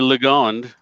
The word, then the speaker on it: Legond: So, but yeah, keep saying Legond. It's easy. It looks like Legend. It sounds like Legend, but it's spelled with a Lego.